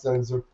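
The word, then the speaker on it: Sehnsucht: I mean, they picked a German word, Zen-Zucht, which is spelled, you can't really imagine. It has no Z's in it. Right, but it's pronounced Zen-Zucht.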